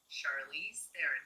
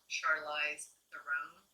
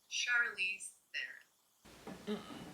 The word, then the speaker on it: Charlize Theron: And just so you have it straight from the horse's mouth, how to pronounce Charlize Theron? Well, that was it. Charlize Theron. Charlize Theron, not Charlize Theron, but Charlize Theron.